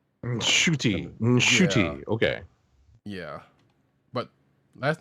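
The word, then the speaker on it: Ncuti: It's pronounced shooty.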